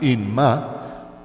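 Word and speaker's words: אמא: Dicen Inma con doble M, I-M-M-A, I-M-M-A, Inma, o dicen Abba, A-B-B-A, Abba o Inma.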